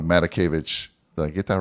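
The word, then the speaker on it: Matakevich: and again i always say his name wrong matakovich did i get that right did i say it right yeah all right matakovich and it really comes down to you know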